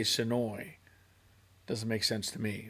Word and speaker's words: Senoia: So if you don't live here, you say Senoia. But if you live here, if you grew up there, you say Sonoy.